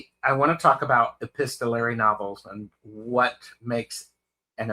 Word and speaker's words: epistolary: mispronouncing epistolary, and everybody is looking it up. No, Epistolary. you're not mispronouncing it. That's correct. But I love the idea of a book about correspondence.